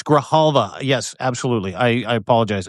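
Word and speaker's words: Adelita Grijalva: And it's Graalva. Yes, absolutely. I I apologize. Adalita Graalva is how you say her name.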